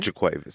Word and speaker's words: JaQuavis: Coleman I said it right jaquavius Coleman right jaquavis jaquavis jaquavis we're sitting here with jaquavis jaquavis